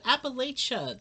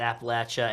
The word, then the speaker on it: Appalachia: that's going to say you can tell what kind of person is by the pronunciation of appalachia uh you were born on the mountain and you work on the mountain if you pronounce it appalachia and you were probably